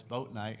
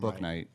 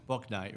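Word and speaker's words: Bouknight: pick we had was boat Knight I don't know to say his name right book Knight yeah book Knight right from Yukon yeah I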